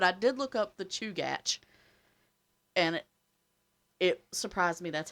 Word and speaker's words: Chugach: But I did look up the Chugach, and it surprised me that's how it was pronounced. But Chugach, that's what it said.